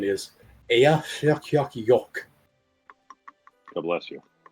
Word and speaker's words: Eyjafjallajökull: And the pronunciation is Eyjafjallajökull.